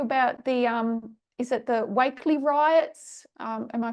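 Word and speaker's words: Wakeley: And if I talk to you about the, is it the Wakely riots? Am I pronouncing that right? Yes, the Wakely riots in Sydney earlier this year.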